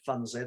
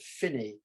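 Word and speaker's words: Funzie: funsy was strangely enough they don't pronounce it fonzie they pronounce it finney but on the lock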